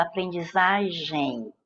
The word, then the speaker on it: aprendizagem: Você fala aprendizagem, em. Esse EM é pronunciado assim, ó, em. É essa que é a pronúncia registrada aqui.